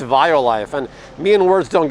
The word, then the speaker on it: Violife: you called it walleye i always said wildlife and one day art's like i think it's violife and me and words